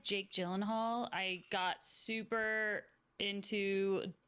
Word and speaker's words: Gyllenhaal: How you pronounce it? I always wondered. Gyllenhaal, yeah.